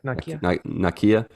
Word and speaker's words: Nakia: gonna work and while they're distracting him uh Nokia I think that's how you say her name yep Nakia uh they bring her out of the woodwork